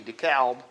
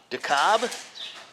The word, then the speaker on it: DeKalb: my pronunciations being wrong like dekalb decalb we always called it decal but i don't know why people think that it's not dekalb d-e-c-a-l-b dekalb dekalb dekalb not the cobb de cobb never heard of it called the cobb but there were some